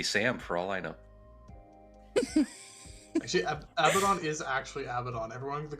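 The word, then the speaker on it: Abaddon: fun of like North Americans for calling him abidon it's like but that is how it's pronounced is Gilman there like uh Ruto or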